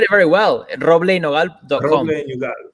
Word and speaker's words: Roble Nogal: Roble Nogal. People tend to start with the R, because if you say it properly, it's a very R sound.